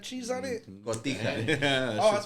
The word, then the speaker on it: Cotija: cojata cheese on it. Cotija.